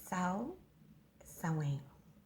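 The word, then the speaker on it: Samhain: believe that's how you it looks like s-a-m-h-a-i-n but i believe it's cell sewing okay this is how it's traditionally pronounced and this is the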